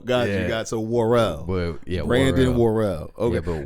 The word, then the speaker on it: Worrell: Did I pronounce that correctly? Yeah, yes. Brandon Worrell? Yes. Okay, cool. It gets butchered a lot. Does he? It does. What's some of the worst things you heard? Worley, which there's no Y in it, or I don't. Worrell.